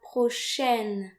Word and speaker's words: prochaine: So note here that A and I are pronounced like AI in the English word said. So the letters AI, when they occur together in French, they're usually pronounced like E.